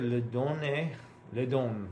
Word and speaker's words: don: Give le don, excuse me. Let me make sure I'm pronouncing that correctly. Le donne. Le don, which I was not.